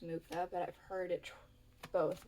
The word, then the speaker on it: Mucha: I'm pretty sure it's pronounced Mucha, but I've heard it both ways.